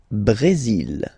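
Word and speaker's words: Brésil: it's only mexic okay Brazil Brazil okay you will pronounce the final L here and then remember accent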